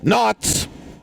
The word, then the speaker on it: knots: it the K because you just pronounce the N it's not it's not